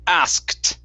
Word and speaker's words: asked: his brother yeah so don't worry about the k in this word uh when uh when we when it is in past tense like this the k does not need to be pronounced the reason why is because of this asked okay we don't like to say it as much as you guys don't like to say it so we drop the k and we only pronounce the t okay so forget about